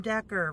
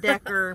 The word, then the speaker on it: decor: you can go to Google and Google in trending home decor for 2018. Don't spell it Decker. I said Decker, but it's not. It's decor. That's the southern sneaking out of me there.